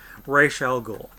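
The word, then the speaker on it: Ra's al Ghul: the way Dennis O'Neil the creator says it Rachelle Ghul but anyways we would have race showing up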